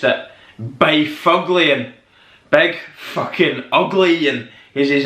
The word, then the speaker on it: Byfuglien: But if you were looking at this name like myself when I was trying to work out how you pronounced it, Byfuglien, big fucking ugly, and he's a big bruiser